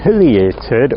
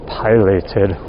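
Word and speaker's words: pileated: size of the hole, I'm going to say it's a piated or you can say pilated woodpecker. I'm always asked which is right. Piated, pilated, potato, potato, doesn't really matter, however you want to pronounce it.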